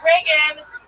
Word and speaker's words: Regan: Hey, it's Reagan. It's spelled like Regan because my mom named me after the president, but she spelled it wrong because she's a Republican.